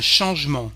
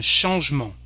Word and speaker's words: changement: Un changement, a change. We don't pronounce this E. Un changement. We may have the sound